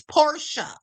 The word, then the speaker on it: Porsche: But it's a German word, and in German, the vowels specifically vowels or the end of a word, specifically the e is is pronounced that way. So, it's porsha.